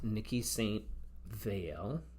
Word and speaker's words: Niki de Saint Phalle: And then this is Niki de Saint Phalle, that's how you pronounce it.